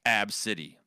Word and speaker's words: Abcde: well okay ABCDE right the mom says her name is pronounced AB City hmm hmm absolutely to